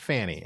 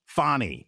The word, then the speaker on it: Fani: No, it's not Fannie. Fannie or Fani? Fani. Yes, it's Fani. Fani. It's Fani Willis.